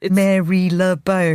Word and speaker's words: Marylebone: Even the place we're in now, like, you spelt like Marylebone. Yeah. It's Marylebone.